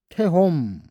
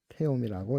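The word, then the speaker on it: תְּהוֹם: 깊음 태홈 태엄이라고 읽네요.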